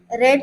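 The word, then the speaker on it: read: Okay, तो ये main form हो गया, इसका पास्ट टेंस भी रेड होगा और पास्ट पार्टिसिपल भी रेड ही होगा। लेकिन हमें प्रोनाउंसिएशन अलग अलग करना है। अगर मेन फॉर्म है तो रीड पढ़ना है और अगर पास्ट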